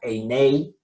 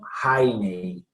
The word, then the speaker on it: Heine: Entonces esto no sería Einei, sino Hainei, o tengo que buscar